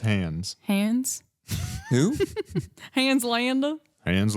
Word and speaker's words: Hans: It's pronounced Hans.